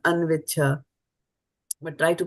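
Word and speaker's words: अन्विच्छ: But when it comes together, the cha kind of gets dropped and anviccha.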